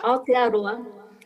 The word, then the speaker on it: Aotearoa: And we would like to learn from Jenny his example of Aotearoa. How do you pronounce that? Aotearoa? Aotearoa. Yeah, Yes, Aotearoa.